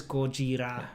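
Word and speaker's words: ゴジラ: was doing merch yeah in katakana it says kojira godzilla which is the japanese pronunciation of godzilla yes glad you're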